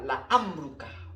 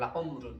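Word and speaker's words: لعمرك: Jadi kamu bacanya la amrukah, bukan la umrun ya.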